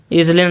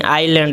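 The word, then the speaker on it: island: है द्वीप देखिए देखिए इसको पढ़ते हैं आइलैंड जलैंड नहीं आइलैंड एस जो है एस यहां साइलेंट है सी ड्रॉप्ड उसने छोड़ी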